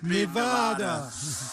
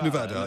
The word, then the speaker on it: Nevada: ne dit notutre façon il faut dire Nevada en fait ça se prononce Nevada et les habitants de cet état défendent activement cette prononciation voilà petite vengeance pour